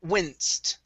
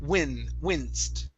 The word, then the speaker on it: winced: Next up is the word winced. Okay, make sure to pronounce the N there. Winced.